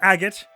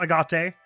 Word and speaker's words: agate: Another important note I have is that this word is pronounced agot, not agate.